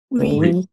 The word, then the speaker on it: oui: Oui. Nobody's going to say oui. Okay, it's oui.